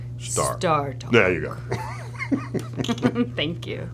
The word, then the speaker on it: StarTalk: You got to say it right. StarTalk. StarTalk. A little lower. StarTalk.